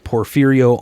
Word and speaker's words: Porfirio: We have Perferio on, and I am stoked.